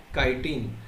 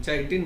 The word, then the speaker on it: chitin: कायटिन. Spelling जरी CHITIN असेल, चायटिन नाही म्हणायचं, चिटिन, तर कायटिन असं म्हणायचं.